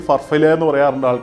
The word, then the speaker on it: Farfalle: names as Farfalle Pasta People pronounce like Farfalle or far-FALL-lay The exact meaning is